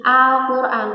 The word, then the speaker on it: Al-Quran: Nih, Al-Quran, tulisannya seperti ini. A, L, Al, strip, Q, U, R, A, N. Jadi bacanya Al-Quran.